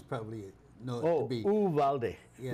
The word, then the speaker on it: Uvalde: Uvalde. Yeah. We pronounce the U as a U. Uvalde. Uvalde.